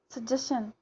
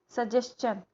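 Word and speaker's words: suggestion: करते हैं, चन को नहीं बोलते हैं, शन ही बोलते हैं. जैसे क्वेश्चन, डाइजेशन, सजेशन. क्योंकि हमारे टीचर्स भी यही बोलते थे, बट इट इज़ रॉन्ग, ये गलत है. वो चन की उसका जो उच्चारण है, जो ध्वनि है लास्ट में, वो चन का आना चाहिए. क्वेश्चन, सजेशन, डाइजेशन, कंजेशन. तो ये आपको याद रखना है.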